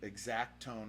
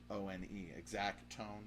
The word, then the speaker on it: XACTONE: So Exact Tone, and it's spelled XACTONE, Exact Tone, like that, and it's here in Nashville, Tennessee, in Berry Hill.